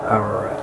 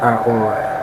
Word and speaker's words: ARA: misspelling of another word ARA like now ARA but actually pronounced or because it's an entirely different word and entirely different language perhaps Angelic perhaps meaning